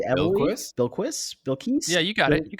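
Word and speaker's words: Bilquis: don't know how to say this is it bill key evan bill quiz yeah you got it you got it okay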